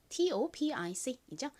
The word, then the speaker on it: topic: TOPIC이죠. 읽어볼게요. 토픽. 좋습니다. 원어 발음으로는 O를 아 소리에 가깝게 읽어서 topic이라고 발음합니다.